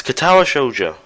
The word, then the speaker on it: Katawa Shoujo: to pronounce this wrong I feel like I've pronounced this wrong before it's katawa shoa it's a visual novel um based on a